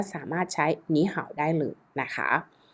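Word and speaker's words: 你好: ที่ 3 นะ คะ เป็น วรรณยุกต์ เสียง ที่ 2 เรียบ ร้อย แล้ว นั่น ก็ คือ เป็น ไป ตาม กฎ การ ออก เสียง เสียง ที่ 3 นั่น เอง ถ้า ใคร จะ ไม่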